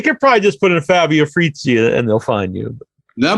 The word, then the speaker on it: Fabio Frizzi: Fabio Frizzi, I think that's how you say it.